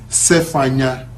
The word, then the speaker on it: Zephaniah: use SF Ania we the proper pronunciation is safe Anya safe Anya no that's I'm speaking as an Avenue if earlier ways listening to this in Isis of an Adobe shop do you see because they are here in other ways but that's how you pronounce Zephaniah in Hebrew so what other country